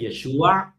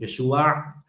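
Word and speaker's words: ישוע: But when I pronounce it, so I pronounce the Messiah's name as Yeshua. So I'm exaggerating. Yeshua, right?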